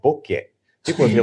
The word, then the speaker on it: bokeh: Bokeh is a Japanese word originally, and that is technically the correct pronunciation.